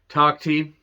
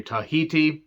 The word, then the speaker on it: Takhti: Takhti, I believe that's how it's said. I wanted to say Tahiti or Takiti, but that's not right.